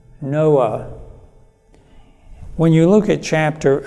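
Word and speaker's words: נֹחַ: And in Hebrew it's pronounced Noach. Noah.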